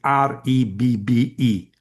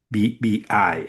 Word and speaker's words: Rebbe: Rebbe is Rebbe, not Ribbi.